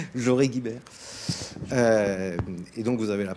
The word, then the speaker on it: Joré-Guibert: et Lou Herbin Joré-Guibert, c'est comme ça qu'on prononce, Joré-Guibert.